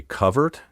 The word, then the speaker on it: covert: By the way, are you wondering why I say covert instead of covert? If so, that's good. You're developing a discerning ear for pronunciation. Covert, the traditional pronunciation, was the only way of saying the word recognized by dictionaries until the 1960s.